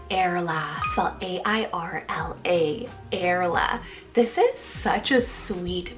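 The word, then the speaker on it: Airla: this one it's the name airless well a-i-r-l-a erla this is such a sweet very cute sounding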